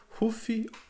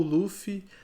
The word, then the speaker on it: Luffy: One Piece conta a história de um garoto chamado Ruffy ou Luffy. Eu acredito que o correto seja Luffy, mas como eu assisto pela versão japonesa e eles pronunciam Ruffy, eu me acostumei a chamá-lo de Ruffy.